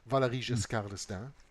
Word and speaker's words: Valéry Giscard d'Estaing: Valéry Giscard d'Estaing.